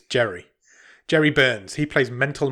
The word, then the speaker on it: Jere: Second billed member of cast is a guy called, how do you pronounce this guy's name? It's Jere. Jere? I guess it's Jere.